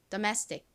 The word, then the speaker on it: domestic: domestic, domestic. 한 번 더 발음 연습해 볼게요. 이 단어의 가장 큰 강세는 이 매 부분에 있습니다. 그래서 domestic, domestic 이렇게 이 매 부분을 강조해 주셔야 합니다.